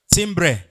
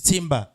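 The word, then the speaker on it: timbre: How do you pronounce this guy? Timbra. You pronounce that timbra. This is timber.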